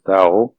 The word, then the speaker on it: Thao: So, Tao, you have to remember the name is Thao, we pronounce Tao.